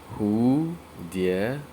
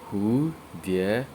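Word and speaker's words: 蝴蝶: So butterfly are pronounced as who, dear, who, dear.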